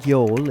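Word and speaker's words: jól: just begun GL leg Yol is how you say Merry Christmas in Icelandic and that's because Yol is the a for the Icelandic Christmas season now we've already seen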